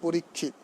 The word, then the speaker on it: পরীক্ষিত: কিন্তু এটা যখন আবার পরীক্ষিত মহারাজের নাম হবে তখন পরীক্ষিত।